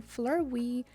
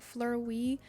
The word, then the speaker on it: Fleurwee: box um and I'm pretty sure that's how you pronounce it like Flur we but this is a